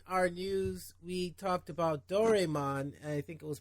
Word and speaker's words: Doraemon: When there's an A and an E like that in Japanese, it usually makes an I sound for some reason.